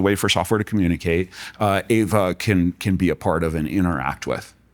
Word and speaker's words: Ava: But the funny thing was that she couldn't pronounce her own name correctly. She pronounced it Ava. And we didn't want that. We wanted Ava.